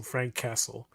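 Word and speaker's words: Franq Kasell: for my own uh Frank Kessle. The way his name is spelled is F R A N Q K A S E L L. So Frank Castle.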